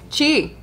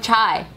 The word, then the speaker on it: Chi: No. Chi. Chi. Yeah, but you guys are fucking it up and going Chai.